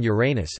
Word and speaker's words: Uranus: pronunciation of the name Uranus preferred among astronomers as with stress on the first syllable as in Latin Uranus in contrast to with